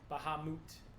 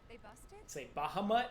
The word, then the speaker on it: Bahamut: I'm fighting right now Baha moot yeah I used to say yeah not Bahamut Baha might know like Baja blast